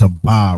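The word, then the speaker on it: אבא: We know that that's a ba right there. That's clear as a va. A, but it's pronounced aba.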